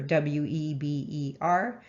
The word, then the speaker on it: Weber: marx emile durkheim and max weber spelled weber w-e-b-e-r um but it's pronounced weber and so um durkheim weber and